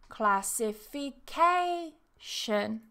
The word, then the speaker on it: classification: Same with classification. Exactly the same. We have the primary stress, classification. But we also have the secondary stress, classification, classification. Then our example with the prefix inter.